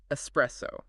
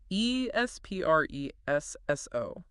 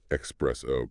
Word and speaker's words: espresso: I have heard this pronounced espresso constantly and it is instantly recognizable as non-native. You have to pronounce it as espresso. There is no X sound, no X sound in that word.